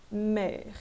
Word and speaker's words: mer: Então, mer é uma palavra monossílaba, termina em ER, teoricamente, né, como eu acabei de dizer, eu não pronunciaria esse R, mas como é uma palavra monossílaba, né, dificilmente ela vai respeitar essa fonética, então eu vou pronunciar aqui mer, e vou pronunciar esse R, tudo bem?